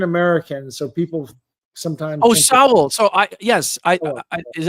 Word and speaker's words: Sowell: Well, Thomas Sowell is the greatest.